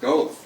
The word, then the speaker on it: Goethe: Remember, I spent the day asking for Goethe Street until I called you and said, no, dummy, it's pronounced Goethe.